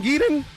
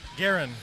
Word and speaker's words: Garen: Uh, how do you say your name? Genon. Garen. Garen. I've been saying it wrong all weekend.